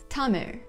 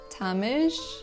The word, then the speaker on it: Tamil: last most interesting sound, which you pronounce almost the same as the l, with your tongue curling up, but without actually touching the roof of the mouth, to get r, something similar to the English r.